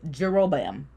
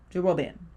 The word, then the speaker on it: Jeroboam: I could be saying his name wrong, but his name is Jeroboam. Jeroboam?